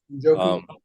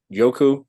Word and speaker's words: Njoku: is going to be David Nyoko, right? Njoku. Yoku. I don't know how to pronounce that. I think it's Njoku. Okay.